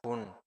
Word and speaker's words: 분: 분, Ajá, pun.